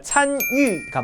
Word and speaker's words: 参与: 근데 이 위라고 읽었던 두 번째 글자는 이 단어에서 사성으로 읽으셔야지 맞는 거예요. 그러니까 参与가 맞는 거죠.